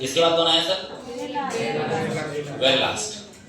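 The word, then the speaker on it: Verelst: इसके बाद कौन आया सर, वेरी लास्ट।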